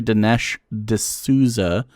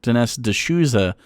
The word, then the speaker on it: Dinesh D'Souza: his name wrong because i want to say dinesh d'souza is correct dennis de souza feels better in the mouth uh not dying his